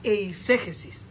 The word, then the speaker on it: eisegesis: Eso es lo que se llama eisegesis. ¿Sabe que hay 2 palabras que se parecen? Exégesis, ¿Cómo se dice? eisegesis. Eisegesis, como si fuera exégesis, y no sin H.